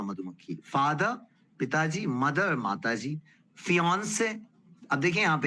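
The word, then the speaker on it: fiancé: होता है मादा मधुमक्खी फादर पिताजी मदर माताजी फियोंन से अब देखिए यहां पर ये वर्ड है फियोंन से अब ये इंटरेस्टिंग वर्ड है।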